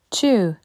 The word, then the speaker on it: two: ton cahier one One Two attention on ne prononce pas le W two three three attention